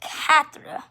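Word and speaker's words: quatre: note of that and four is katra or it's cat more more correct the most correct thing will be would be cat and i would say cat but it's not spelled c-a-t and five is stank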